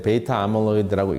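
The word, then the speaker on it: β-amyloid: 중에서 그 단백질 이름이 A 베이타라는 게 있는데 베이타 아밀로이드라고 읽습니다. 베이타 아밀로이드라고 하는데 이러한 이 물질이 두뇌 세포에 누적이 되는가 하는 것을 이제 쥐 실험으로 하면은 가능하겠죠.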